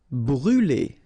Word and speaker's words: brûler: Brûler. Alright, so remember to write this circumflex on the top of U, but then you don't pronounce it, so phonetically it doesn't exist, and it's brûler.